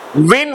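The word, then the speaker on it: won: weep means रोना रोना weep means रोना रोना विन वन वन विन वन वन विन वन वन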